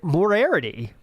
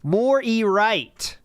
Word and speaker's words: Moriarty: I'm probably pronouncing that wrong. Morarity. Phil is so intelligent that he literally playing 10-dimensional chess. 10D chess. 10D chess. Moriarty. Moriarty. Moriarty. Moriarty. Moriarty. Moriarty. Moriarty. Now we know it.